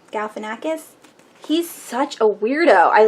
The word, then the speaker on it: Galifianakis: uh how do you say his name Zach Galifianakis Galifianakis he's such a weirdo I love it there